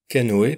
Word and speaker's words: canoë: Le E, autre voyelle avec un tréma, comme dans le mot canoë par exemple, dans le nom Raphaël, ou encore dans le nom Noël. Là, le tréma permet de bien prononcer séparément les deux voyelles.